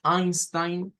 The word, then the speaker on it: Einstein: y con una I todo lo que lleva e i en idioma alemán se pronuncia con i es el sonido que